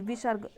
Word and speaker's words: विसर्ग: विसर्ग, आहा को विसर्ग कहते हैं। इसका उच्चारण हल्के हा जैसा होता है।